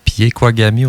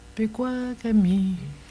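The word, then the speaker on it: Pekuakami: Ben, ils mettent un I après le P. Ils le disent à la québécoise. Là. Ah, oui, il y a des différents de prononciation.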